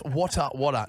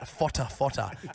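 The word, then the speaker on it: Whatawhata: And I look, how do you need to have a segment, boys, of, like, it's Wata Wata, not Fota Fota.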